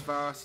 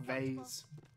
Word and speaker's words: vase: And yes, vase is the correct pronunciation, okay, not vase.